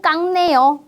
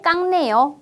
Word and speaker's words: 깎네: 그런데 어때요 과일을 잘 깎네 이렇게 이야기할 수 있어요 과일을 잘 깎네 자 여기는 쌍자음 받침이 왔는데요이 음절은 어떻게 읽어요 쌍자음이 이제만 깍이라고 윽 소리로 발음합니다 받침에 그 소리와 비음